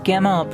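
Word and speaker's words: Gimel: Gimmel pronounced Gmail hard G transcribed as G.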